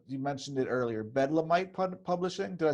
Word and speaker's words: Bedlamite: Bedlamite Publishing.